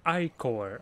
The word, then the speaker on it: ichor: I can feel it with magical ichor that's pronounced ichor.